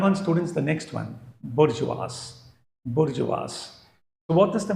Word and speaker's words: bourgeois: Okay, it will be spoken as बोर्जुआस, बोर्जुआस.